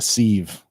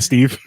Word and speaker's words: sieve: That's like a sieve. My memory. Civ, Mm, I think it's it's, pronounced. it's actually how it's pronounced. I'm pretty sure it's sieve. Got a mind like a Steve.